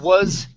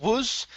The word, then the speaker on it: was: this one um uh was instead of woos this is was was wrapped around was